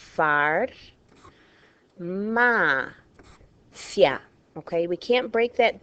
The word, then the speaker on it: farmacia: That's why this word here is pronounced farmacia. I guarantee some of you have pronounced it farmacia. It would not be farmacia unless there were an accent breaking the diphthong.